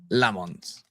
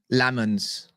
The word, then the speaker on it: Lammens: How to pronounce Lammens. All right. Here we go. Lammens. Lammens. Lammens. It's Lammens. It's Lammens. That's how you say his name.